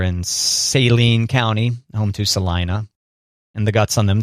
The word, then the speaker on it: Saline: in those two ways it's Celine that's what I said Salina you said Saline Salinas in Saline County saline oh Celine County yeah like saline solution okay Celine well even